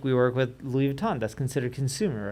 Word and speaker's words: Louis Vuitton: Louis Vuitton yeah yeah yeah yeah is that Louis Vuitton did I say it right yeah yeah yeah